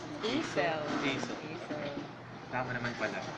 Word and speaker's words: Aicelle: you like to pronounce your name? Aisel.